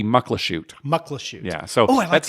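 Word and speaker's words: Muckleshoot: right because that's what everybody says macht lush but it's yeah but it should be Mucklow shoot luckless you yeah so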